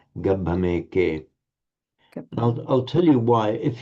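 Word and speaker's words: gabbhameke: If you make the break here, gambhameke, that converts that syllable into a long, not gambhameke, but gambhameke, which actually is wrong.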